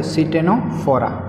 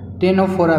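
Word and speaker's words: Ctenophora: Okay, तो जो next phylum है वो है सिटेनोफोरा, राइट, या फिर टेनोफोरा भी आप कह सकते हो, सी को साइलेंट रख के, राइट।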